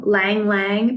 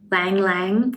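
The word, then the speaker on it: ylang-ylang: soap and it's called i always say this wrong lang lang but it's spelled y y-l-a-n-g lang lang it smells so good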